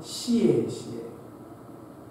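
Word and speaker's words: 谢谢: ですが、本当はシェシェというふうに発音します。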